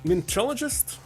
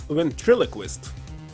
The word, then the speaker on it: ventriloquist: Ventrologist? I forgot how to pronounce it.